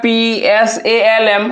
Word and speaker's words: psalm: है पहला में देखिए लिखा हुआ है PSALM। हमारे बच्चे देखे होंगे, इसे हम लोग क्या पढ़ते हैं, इसमें से हमारा साइलेंट क्या है भैया, P आपका साइलेंट दिया हुआ है।